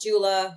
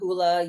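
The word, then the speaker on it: JOOLA: for not knowing but I've heard it pronounced Jula hoola Ula I say Jula because it sounds sexier but they came out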